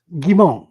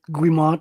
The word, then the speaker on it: Guimont: Gimon. Yeah, most English pronounce it Gimmont.